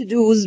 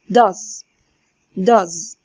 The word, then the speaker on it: does: زي برضو الفعل do، ما بنقولش دوز بنقول does. تمام، حتى النطق بتاعه مختلف.